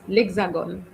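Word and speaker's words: L'Hexagone: So the pronunciation is lexagon.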